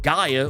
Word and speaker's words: Gaia: of Souls, discovering that Gaia, or Gia, depending on how you want to pronounce it, is lost within the Well of Souls.